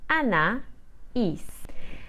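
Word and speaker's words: Anaïs: na Eve and finally my name is spelled a n a i s with a trema on the eye so I will say Anna is maybe you have realized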